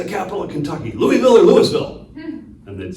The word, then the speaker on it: Louisville: You gotta say it with you cannot pronunciate a single thing in there, It's all vowels. and they'll talk hella shit if it's not Louisville, it's not Louisville, it's Louisville. Louisville, yeah.